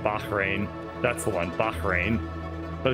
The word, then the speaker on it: Bahrain: pronounce correctly insofar as they refer to it as Baja rain and I'm like no there's no like laughter in the middle of the word Bahrain which is just Bahrain but I mean I